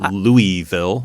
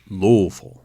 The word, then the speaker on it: Louisville: since 2006 and so louisville louisville there's a mumble in it mm-hmm it's like something's falling out of your mouth that's how you louisville yeah yeah in any